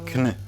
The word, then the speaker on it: Knytt: And then I learned simply from interacting with the community that it is Knytt.